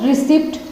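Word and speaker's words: receipt: चिकित्सा को ट्रिक और रिसिप्ट जो आपकी पीड़ित होते हैं ना वह डिजिट वाली भी इसमें भी आपने देखा कि मैं पट्टी साइलेंट हो जाता है तभी तो रिसिप्ट बोला जाता है कुछ के बिस्किट और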